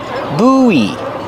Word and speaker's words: buoy: Pronunciation, use a long oo, like food. Oo, boo, buoy. And then the long E like green beans. And link the vowels. Buoy. When you link the vowels, you hear kind of a W sound. Whoa, whoa, whoa. Together, boo, buoy.